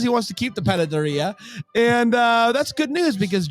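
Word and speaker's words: panadería: It's a Panaderia. Panaderia? Panaderia. It's a Mexican bakery. Give it a go, Brain. Panaderia. Shove off. It's Christmas. He decides he wants to keep the panaderia, and that's good news because Jack apparently got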